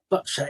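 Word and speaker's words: boccia: what the future holds yeah so you mentioned botcher and is that that's the right way to pronounce it isn't it botcher yes well done a lot of people say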